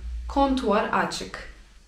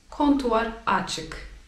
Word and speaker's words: kontuar açık: I będzie wtedy informacja kontuar açık. Kontuar açık.